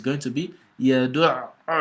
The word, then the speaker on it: يَدُعُّ: And so when you see it on the letter, you've got to assume you're pronouncing the letter twice.